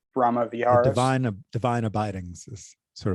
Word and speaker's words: Brahma Viharas: The Brahma Viharas. Brahma Viharas.